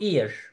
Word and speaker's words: eer: iki tane e var Normalde bunu a diye de okunur diye düşünebilirsiniz ki bu şekilde çok hatalar yapılıyor ama bu e e r harfi bunu bir bütün olarak görüyorsunuz üçü birbirine yapışmış olarak görüyorsunuz ve Burası i e diye okunuyor ir Dolayısıyla şu şu kelimede